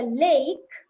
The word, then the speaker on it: lake: And when it's a lake, the E is silent, but the A takes the A sound.